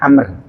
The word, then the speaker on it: Amr: Kalau ada wawunya bacanya Amr. Kalau tidak ada wawunya nama bacanya Umar.